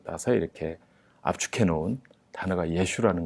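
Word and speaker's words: ישו: 이랬었는데 이스라엘 가고 나서 이제 복음을 전하는데 우리는 예수님하고 전하는데 이들은 그 예수라는 걸 예슈 그래요. 그래서 발음이 좀 다르지만 예수님이라고 하는구나.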